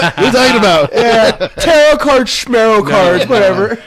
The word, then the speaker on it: tarot: Yeah, tarot cards, schmarrow cards, whatever. Tarot rhymes with schmarrow.